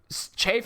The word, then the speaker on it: Cheif: Chafe as in CHEIF. If you spell it Chief, we're gonna pull the wrong on you. Chafe, not Chief.